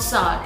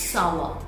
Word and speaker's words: sour: We pronounce this word as sour, but it's not sour, it's sour.